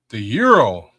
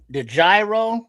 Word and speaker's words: gyro: Oh, you got the the euro, the gyro, the groy, the euros. You know, depends on where you at, how you say it. But you know the yeros, you know, the classic Greek.